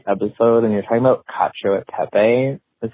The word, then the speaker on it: cacio e pepe: Hey, I'm just listening to today's episode, and you're talking about cacio e pepe. Is how you said it. This is how you say it. Cacio e pepe.